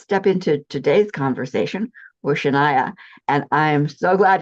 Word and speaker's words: Sheyenne: It's Sheyenne. It is Cheyenne. Thank you. Because it's like Cheyenne and it's Cheyenne.